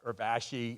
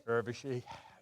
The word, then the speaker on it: Urvashi: intimidated her so bad I mispronounced her name for 2 years, and she wouldn't tell me about it. And someone finally told me it's not Urvashi, it's Urvashi.